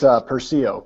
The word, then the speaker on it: Persio: You say Persio, right? It's Persio, but yeah, everybody does that.